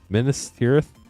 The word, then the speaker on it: Minas Tirith: Minas Tirith.